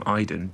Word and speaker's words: Aiden: aidan it's spelt um she calls him idon but it's spelled uh aiden like we would say aiden in england but i didn't in the game and um you can